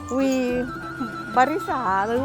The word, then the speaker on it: We Briza: แรม vb สา นะ คะ อ่าน ว่า อะไร V บริษา รวี บริษา นะ คะ ก็ คือ อยู่ ใน